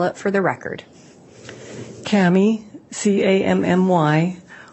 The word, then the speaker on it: Cammy: your direct examination state your name and spell it for the record Kami c-a-m-m-y w-i-l-l-m-o-r-e where are you currently employed